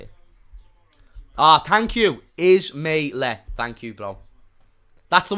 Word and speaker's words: Ismaila Sarr: Ismailia something. Ismaila Sarr. Okay, I think that's how you say it. Thank you. Ismaila.